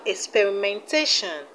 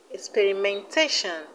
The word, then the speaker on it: experimentation: stress zone z e we have experimentation experimentation stresses on t e t experimentation now let's see